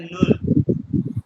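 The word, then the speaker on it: null: अब यहां पे ये जीरो को कहते हैं नुल नुल ठीक है ओके अच्छा अब आगे आओ आ जाओ ये देखो प्लस की स्पेलिंग वही है इंग्लिश वाले लेकिन इसको यू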